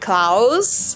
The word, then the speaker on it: Clouse: for something Christmy and I called him Clouse with a C. So, it's like Claus, but I pronounce it Claus cuz I'm not naming my baby Claus.